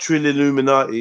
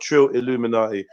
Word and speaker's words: Trilluminati: Not Trilluminati. It's not Trill Illuminati. I'm not the Illuminati. This is Trilluminati.